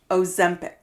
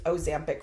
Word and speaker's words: Ozempic: No, that's how you say it. Say it again. Ozempic. Ozempic. It's an E, not an A.